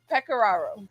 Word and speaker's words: Pecoraro: do you say last name again i'm sorry peccararo like the players uh say coach peck